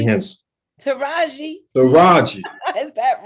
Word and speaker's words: Taraji: Not Taji. How you pronounce her name? Taraji? P. Henson. Taraji.